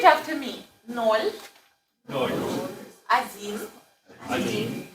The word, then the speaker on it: один: You know why I pronounce один, right? Why I pronounce один and spell O. Pronunciational rule, right? Okay, so before the stress, immediately before the stress, O pronounce like A, right?